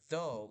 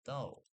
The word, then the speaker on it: thou: Because of this, it's actually pronounced thou and not though.